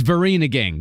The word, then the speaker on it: Vereeniging: Is it Vereeniging? It's Vereeniging. That's what it is. Is that how it's pronounced? I did look it up. It's Vereeniging.